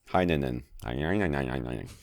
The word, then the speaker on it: Heinonen: Heinonen.